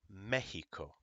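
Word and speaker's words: México: like exito or excellente it can also have the same sound as a j and go ha uh in words like Mexico especially if a word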